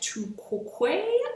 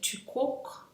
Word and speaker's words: Tu quoque: And it is called the Tu Quoque logical fallacy. There are some other pronunciations of that, like Tu Quoque, and I even saw one, a French speaker calls it Tu Quoque.